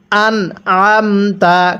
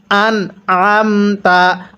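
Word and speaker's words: أنعمت: আম তা জবর তা আন আমতা কিভাবে শিখবো আন আমতা অনেকেই এই জায়গায় একটা ভুল করি আনে আমতা পড়ি অর্থাৎ নুনের নিচে জের পড়ে ফেলি এখানে স্পষ্ট করে পড়ব হামজা নুন জবর আতা এরপরে আইন জবর আ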